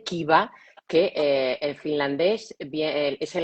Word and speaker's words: Kiva: lo queréis buscar luego se escribe con K y con V, Kiva, que en finlandés es el acrónimo de Kiusaamista vastaan, que significa contra el acoso escolar.